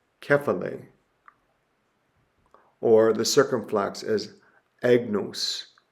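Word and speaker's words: κεφαλή: The most important thing that you need to know is that the accent mark is placed over the stressed syllable of the word. So the acute is agape, agape. Or the grave is kephale, kephale.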